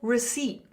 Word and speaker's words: receipt: Would you like the receipt?" Receipt. Would you like the receipt? Would you like the receipt in your bag? So, you can see the P is silent.